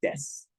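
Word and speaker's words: です: So in normal speaking, it's just des, des, and the u is silent.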